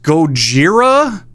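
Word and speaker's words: ゴジラ: dumb lizard monster thing okay uh Godzilla sometimes pronounced goira what is is this thing he's a big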